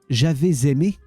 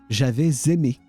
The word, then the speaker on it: j'avais aimé: It's not j'avais aimé, but j'avais aimé. J'avais aimé. Like if you put a Z on the at the start of the second word.